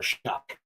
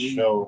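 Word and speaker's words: Shough: It's show. But like everyone that I've like on podcasts and stuff they pronounce it shuck. It's not shuck.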